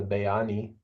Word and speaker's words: Bayani: one name that they can use is the bayani. How do you spell that? I'm spelling it Beani, but it sounds looks like beanie, but Bayani.